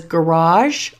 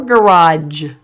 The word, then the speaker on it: garage: You can pronounce this as garage or garage. It's that last sound that can be a little bit different.